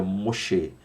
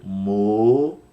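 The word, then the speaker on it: משה: vista na Bíblia é uma pronúncia mais voltada ao hebraico, então seria Moshe. Repetindo, Moshe.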